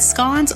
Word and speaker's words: scone: In America, we pronounce it in a way that rhymes with tone.